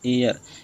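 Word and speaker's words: heir: इसी तरह से फ्रेंड्स ये जो ना एयर, इसको हेयर नहीं बोलना, हेयर मान उत्तराधिकारी होता है फ्रेंड्स, उत्तराधिकार। तो यहाँ पे जो फ्रेंड एच साइलेंट हो जाता है तो इसे एयर बोलेंगे।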